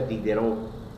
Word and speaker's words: Diderot: Diderot se escribe, pero se pronuncia Dideró.